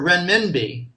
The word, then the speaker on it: renminbi: RMB stands for renminbi. Hard to pronounce.